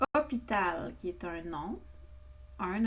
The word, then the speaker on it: hôpital: Hôpital, qui est un nom, un hôpital, qui est un nom masculin. Remarquez qu'il y a un H muet au début et un accent circonflexe sur le O.